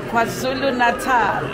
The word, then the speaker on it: KwaZulu Natal: They're from KZN, Kwazulu Natal. Am I saying it right?